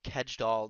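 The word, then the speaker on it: Kjeldahl: and then total tkn which i'm going to butcher this the pronunciation which is total kedgedoll nitrogen i believe is how a lot of americans pronounce it but um pia could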